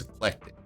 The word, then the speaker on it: ECLECTIQ: point but they qualified no it's eclectic these guys z duke